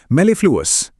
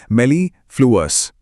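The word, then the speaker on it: mellifluous: मेलीफ्लूस एक बार और इसके सिलेबल्स को तोड़कर बोलते हैं मेलीफ्लूस।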